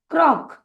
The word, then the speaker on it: croak: और ओ और ए, यह जो है दो स्वर है तो हमें सिर्फ ओ का नाम लेना है और ए को भूल जाना है, और के का उच्चारण करेंगे क। इसीलिए CROAK हो जाएगा क्रॉक, क्रॉक।